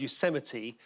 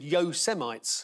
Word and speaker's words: Yosemite: Donald Trump, when he was reading the autocue and he came to the word Yosemite, said Yo Semites.